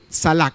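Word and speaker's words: צלח: En hebreo, esa palabra, la palabra está ahí antes de salak. Se pronuncia así. ¿Cómo? Salak. Eso es prosperar en hebreo.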